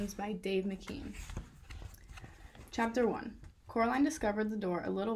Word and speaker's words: Coraline: time she met her you see caroline miss pink said getting coraline's name wrong both myself and miss